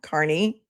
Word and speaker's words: Kearney: Thank you, Tina, for pointing out that unlike Common, I do know how to pronounce Carney. I do. It's not It's not hard. Just think like Carnival. Carney.